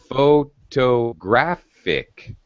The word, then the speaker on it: photographic: minute hold your horses how about if i say photographic photographic now where is syllable stress irving one two three four one more time photographic correct you're absolutely correct you're